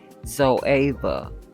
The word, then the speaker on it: ZOEVA: a light beige color I made a mistake earlier with the pronunciation of the name of this palette the pronunciation is actually zo Eva Blanc Fusion on my